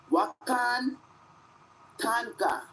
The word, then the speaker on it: Wakan Tanka: let's learn a little bit of Lakota w-a-k-a-n wakan tanka tanka is spelled t-a-n-k-a -tanka I hope they do put